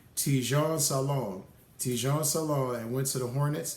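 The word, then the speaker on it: Tidjane Salaün: 6th was, and I made sure I pronounced this correctly, Tijon Salon, and went to the Hornets, pairing him up with Melo Ball.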